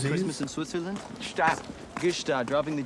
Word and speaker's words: Gstaad: No, Christmas in Gstaad is going to cost us. Wow. The G is silent.